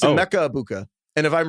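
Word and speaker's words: Egbuka: think it's a Mecca abuka and if I'm wrong we can it's just like you kind of gloss over the G you split the G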